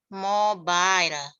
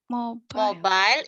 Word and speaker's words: mobile: Bacanya itu mobile. Mobile itu artinya handphone. Orang Inggris nggak pernah nyebut handphone itu handphone. Mobile atau seluler. Gitu. Jadi bacanya mobile bukan mobil ya.